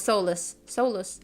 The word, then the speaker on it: Solus: It does sound pretty similar, but no, it's Solus.